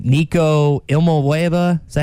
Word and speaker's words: Iamaleava: Nico Ilmueva, is that how you say it? Iamaleava.